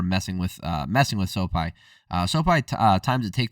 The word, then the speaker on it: Sopaj: man uh venicius Oliva versus Bernardo so uh soai that's how you pronounce it uh soai winding up and trying